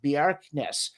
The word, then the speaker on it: Bjerknes: that there's this widely accepted, I think it's pronounced Bjerknes, compensation hypothesis, that if heat's been carried one